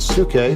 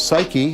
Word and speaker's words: psyche: the lodestone has success this word suke which we now pronounce psyche is going to be